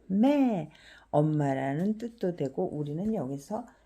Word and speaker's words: แม่: 뭐마니까 미음이고 모음은 장모음 해서 성조는 저자음에 일자가 붙었으니까 이성. 이성은 올라갔다 내려왔다 한글 위에 이렇게 표시해줘요. 매 엄마라는 뜻도 되고 우리는 여기서 매못을 쓰는 거죠.